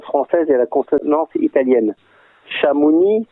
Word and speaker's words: Chamonix: Chamonix, c'est devenu Chamonix avec un X, mais on ne prononce pas le X.